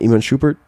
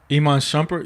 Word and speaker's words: Iman Shumpert: Iman Shupert. Iman Shumpert.